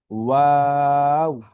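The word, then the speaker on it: واو: তো এই হরফ উচ্চারণের ক্ষেত্রে দুই ঠোঁট গোল করে, পুরো বন্ধ না। অর্থাৎ আমরা যে মুখটা গোল করি, ওয়াও একটু ফাঁকা থাকে আর কি। ঠিক আছে, পুরোপুরি মুখ লেগে যাবে না। দুই ঠোঁট গোল করে তারপর আমাদের হরফটা উচ্চারণ হবে ওয়াও, ওয়াও।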